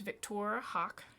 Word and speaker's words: Victoire Hawke: okay let's see here we've got now it's pronounced victor hawk yes yes you are ravenite dragonborn monk okay